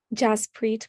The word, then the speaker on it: Jaspreet: Jaspreet. Can and you please that's- spell that?